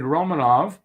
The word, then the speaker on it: Romanov: reasons i think because it was last name i was mispronouncing it and that's okay and uh it is romanov um in practices during